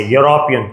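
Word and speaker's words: European: लेकिन हमें यहां पर प्रोनाउंसिएशन देखना है। और प्रोनाउंसिएशन जो है वो कहां से स्टार्ट हो रहा है? वाई से। यूरोपियन।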